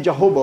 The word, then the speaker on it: Jahowa: Tulisannya Jahowa. Jahowa itu Yahweh. Tapi membacanya Jehovah orang Batak. Karena lafal W itu dibaca dengan B. Jadi walaupun di Bible tulisannya Jahowa, bacanya Jehovah.